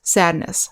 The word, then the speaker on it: sadness: thankless next we have the suffix ness which is pronounced niss happiness sadness loneliness next we have